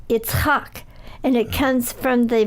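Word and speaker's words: יצחק: It in Hebrew it's pronounced Yitzchak, and it comes from the verb litzchok, which means to laugh.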